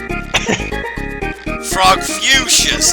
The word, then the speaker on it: Frogfucius: Frogfucius, okay, that's how you pronounce that name.